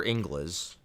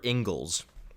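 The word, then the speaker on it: Inglis: a guy named alexander ingles actually it's spelled english i think it's pronounced ingles i think it's pronounced angles but it's spelled like english but isn't that isn't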